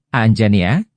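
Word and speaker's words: Anjaneya: Wanara sebagai Putra Anjani Hanoman dipanggil anjania diucapkan aanjania yang secara harfiah berarti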